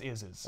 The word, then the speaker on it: Isz: where he was like, it's pronounced is, like IS.